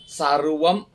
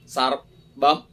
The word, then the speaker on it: സർവ്വം: അതിരോഹതി പുരുഷ ഏവേദം സർവ്വം ഋക്കിലെ ഉച്ചാരണത്തിന് സർവ്വം എന്നല്ല ഒരു ബകാര ഛായ ബ എന്ന നല്ല അക്ഷരം അത് പക്ഷേ സർബം അപ്പൊ ചുണ്ട് കടിക്കുക അങ്ങനെയാണ്